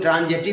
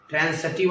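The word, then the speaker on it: transitive: आगे जो ट्रांसिटिव इंट्रांसिटिव जो बताएंगे, वैसे जनरली लोग ट्रांजिटिव इंट्रांजिटिव पढ़ता है, प्रोनाउंसिएशन शुद्ध नहीं है। ट्रांसिटिव और इंट्रांसिटिव होता है।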